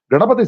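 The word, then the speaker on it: Gaṇapati: So Ganapati, in that original word, the syllable of na, the vowel after n, is a short syllable. So it is not a Ganapati, it is Ganapati.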